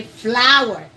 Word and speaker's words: flour: I see a lot of Ghanaians pronounce it fl but the correct pronunciation for that is the same as flowers but flowers has the